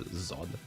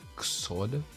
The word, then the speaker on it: Xod: Both of them are zod. It's just what am I pronounced? It's written with an X, but you still say that with like a.